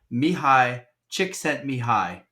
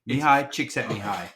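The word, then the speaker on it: Csikszentmihalyi: say I I want to correct myself the pronunciation of the uh Flow State psychologist Mii chick sent Mi High I'm not joking Mii chick set Mi High that's how you pronounce his name okay nailed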